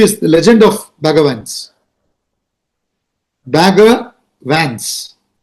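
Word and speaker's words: Bagger Vance: name the legend of bagavans. And when you say it in the American pronunciation, Bagavans, Bagavan, Bhagavan, you know, and he coaches a player by name Runa Arjuna, you understand?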